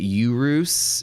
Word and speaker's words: Urus: You pronounce it urus.